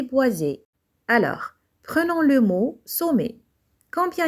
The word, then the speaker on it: sommet: On prononce et, sommet, et ne prononcez pas la consonne T, c'est une lettre muette.